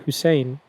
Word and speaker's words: Hussain: But then the other one that's really messed up is they pronounce it right, Hussein, but they write it Hussian.